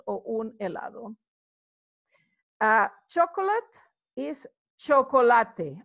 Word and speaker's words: chocolate: Chocolate is chocolate. As you can see, it's written the same, but as I've told you, in Spanish, we pronounce every single letter.